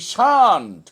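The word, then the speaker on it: shan't: তাহলে আই শ্যাল নট উচ্চারণটা কি, আই শান্ট, আই শান্ট। এই দুই ফোঁটা থাকলেই মাঝখানে টান আছে। ধ্বনিটা লং সাউন্ড, মানে টানতে হয়, প্রলংইং ইজ মেড হিয়ার।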